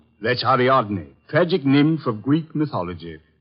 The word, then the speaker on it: Ariadne: The waradne, the girl in the statue. Oh, that's Ariadne, faggic nymph of Greek mythology.